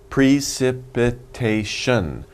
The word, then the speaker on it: precipitation: right pre-st wow so many syllables there's five syllables so let's say it fast wolf slow first and then fast precipitation precipitation one more time precipitation okay so if